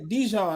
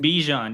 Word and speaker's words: Bijan: I always do like Dijon. I think is how you say his name. Bijan, yeah.